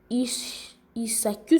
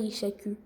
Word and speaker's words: Isaku: y a un H, donc je crois que le H là se lit pas. Ou si le H se lit, c'est les Ishaku, je crois, pour ma prononciation. Mais bon, Isaku, c'est seulement les Isaku. C'est les Isaku, pas les Ishaku. Je m'étais trompé de prononciation.